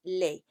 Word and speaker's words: les: You don't pronounce the S. So it looks like les, but it's les.